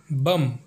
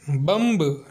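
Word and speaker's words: bomb: तो हमारा पहला एग्जाम्पल है बम, जिसका मतलब होता है धमाका, बम का गोला। इसमें एम के बाद बी आया है, इसलिए बी साइलेंट है, इसे बम्ब नहीं पढ़ा जाता।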